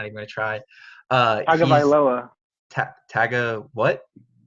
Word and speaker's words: Tagovailoa: I was going to pronounce his last name, and I'm not even going to try. Tagovailoa. What? Tagovailoa. Tagovailoa.